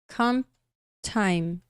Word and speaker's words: comp time: Na hora que você fala comp time, o P juntando, né, de comp, o P juntando com o T de time, acaba desaparecendo. Então fica comp time.